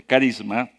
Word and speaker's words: charisma: Y otra palabra en el Nuevo Testamento es la palabra carisma o charisma, así se escribe, se pronuncia, carisma.